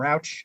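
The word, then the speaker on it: Rauch: Is that how he pronounced his name? Rouch? Correct. Yeah, Rouch, who had taken over himself for Al Davis when Al Davis was the coach.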